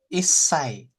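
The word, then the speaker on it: 一歳: Oke, kalau su kecil itu biasanya dia akan mendobelkan konsonan setelahnya. Ya, ya. Betul ya. Ingat ya. Nah, udah pernah belajar belum sih ini? Yang ini? Udah dulu. Oke, ya, oke. Jadi kalau ada su kecil di sini, jadi S-nya double sebenarnya. ISSA gitu ya, Isai.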